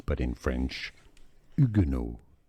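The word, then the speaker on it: Huguenot: The French pronunciation the H is silent so do not pronounce it. Now in English it's generally pronounced as hugeno hugo. Hugeno but in French ugeno.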